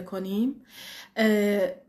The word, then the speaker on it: can: برای جملات مثبت وقتی که از can میخوایم استفاده کنیم، به خاطر اینکه فعل کمکی هست خیلی سریع ازش رد میشیم. کن کن کن.